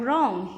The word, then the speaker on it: wrong: Like in number 1, we have wrong. Here you can see W has not been pronounced while speaking it.